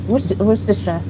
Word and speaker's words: Worcester: I believe Worcester. Oh, well done. Oh, but if you if we showed you how it's spelled, you might struggle.